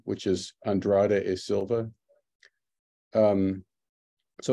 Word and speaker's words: Andrade e Silva: It took me a long time to learn how to say his Brazilian last name, which is Andrade e Silva.